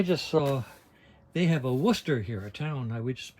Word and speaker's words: Worcester: c s t e r which I always pronounce Worchester until I found out it's supposed to be Worcester and so I thought that if they're going